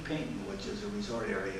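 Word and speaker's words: Paignton: So it was Torquay, and Payton was Paigton, Payton.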